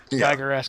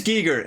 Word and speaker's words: Giger: yeah it's very gigger-esque geiger however the pronunciation is i think it's giger he was uh he's dutch he was he was dutch it's not quite full-blown